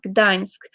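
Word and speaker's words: Gdańsk: pronounced I don't think I know it's it's pronounced Gdansk the city that I was mentioned so I've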